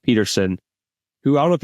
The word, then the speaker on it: Pettersson: I think it's actually pronounced Peterson, who I don't know if you know much about him from Pittsburgh.